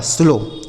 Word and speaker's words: slow: ठीक है, इसको हमने स्लो पढ़ा, लेकिन इसको हाउ। स्लो, इसको स्लाउ हलाउ नहीं पढ़ेंगे, इस तरीके से नहीं पढ़ाएगा।